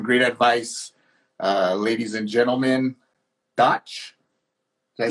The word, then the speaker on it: Dach: Ladies and gentlemen, Dach, did I say it right?